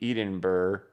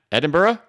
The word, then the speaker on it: Edinburgh: course in merch BCB Eden Burr I'm probably pronouncing that right Eden Burrow recently doubled its membership to two and it's going strong have you ever visited no let me type it into Google the capital of Scotland let me see how to pronounce it so not sound like a jerk Sox oh come on you don't need a four minute video to explain how to pronounce that foreign Edinburgh how about that Edinburgh we good I haven't